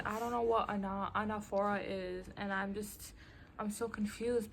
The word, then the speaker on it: anaphora: Anaphora? It's pronounced anaphora.